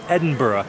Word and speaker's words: Edinburgh: Also, yes, the correct way to say the name of this town or city is Edinburgh. Yes, it looks like similar to what we would see in the name Pittsburgh in the US, but it is not